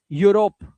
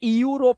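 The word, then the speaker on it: Europe: इयू को किससे पढ़ेंगे? इयू को यू से पढ़ना है। यू जैसे यूरोप। इसे इयू रोप नहीं पढ़ना है। यूरोप।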